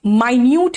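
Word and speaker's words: minute: देखो यहां पे माइन्यूट है, मिनट स्पेलिंग सेम होता है, लेकिन यहां पे माइन्यूट है।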